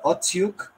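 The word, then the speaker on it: Okhotiuk: defenseman Shakir Mukhmadulin and Nikita Okotiuk, actually is how you say that, and NHL draft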